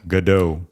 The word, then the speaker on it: Gadot: Gadot.